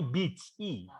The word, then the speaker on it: beach: Kalau yang ini beach, beach ya. Jadi beda ya. Nah, jadi nanti kalau kamu jangan sampai kamu pengen ngomong pantai tapi kamu malah terdengar ngatain orang ya. Oke. Karena ini salah satu kata-kata yang sangat kasar. Jadi saya pengen kamu menghindari kalau bisa jangan sampai salah ucap ya.